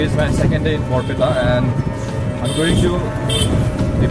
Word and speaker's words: Barpeta: This is once more, and today I'm heading to Borpeta. Yes, that is how it's pronounced. It's Borpeta.